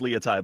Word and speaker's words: Laitai: It says pronounced Leotai, but I pronounced it wrong.